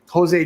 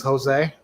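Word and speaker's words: José: so that's how is pronouncing the j like an h just like you just pronounce jose's j with an h i wasn't paying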